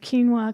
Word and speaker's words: quinoa: And then I was like, well, I'm kind of suspect of quinoa because I can't pronounce it.